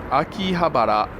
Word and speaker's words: Akihabara: we're gonna walk into a key Habra the Akihabara proper I'll call it Akihabara is the proper pronunciation and the name means